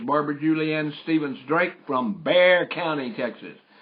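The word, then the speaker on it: Bexar: Julianne step Drake from Bear County Texas only the people in Texas know how to spell that bear it's not b a r it's b x a r but we're going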